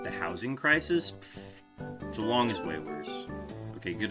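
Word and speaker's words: Geelong: Like, do the Jalong fans get upset where they're like, "No, it's it's Jalong, not Gilong.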